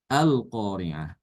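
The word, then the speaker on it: القارعة: Kalau dia dimulai di lafaz ini kita baca dengan fathah ya. Al-Qari'ah. Tapi kalau kita membacanya dimulai dengan sebelum pada lafaz ini yaitu lafaz bismillah ya. Bismillahirrahmanirrahim. Kita sambung. Ya, maka di sini bacanya bukan Bismillahirrahmanirrahim al-qari'ah ya, melainkan dihilangkan hamzah wasalnya itu. Hamzah wasalnya hilang. Jadi dibacanya Bismillahirrahmanirrahimil qari'ah.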